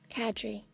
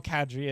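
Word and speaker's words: cadre: to say this for I'm gonna hold on cadri cool thank you Google small cadry of instructors bounded between the groups of soldiers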